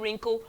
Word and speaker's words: wrinkle: We have repent, we have direct, resurrect, strenuous, arrest, and wrinkle.